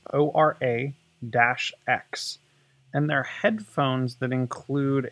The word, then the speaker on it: Ora-X: holic so this is called I'm guessing it's pronounced aura X its Oro - X and they're headphones that include a flippable AR